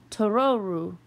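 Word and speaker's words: トロル: Totoro is a mispronunciation of the word for troll in Japanese. The word for troll is pronounced Tororu in Japanese, which sounds familiar to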